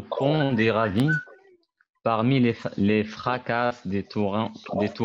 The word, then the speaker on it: fracas: Il s'engouffre au fond des ravines, parmi les fracas des torrents. Fracas. On ne Les prononce pas fracas. le S.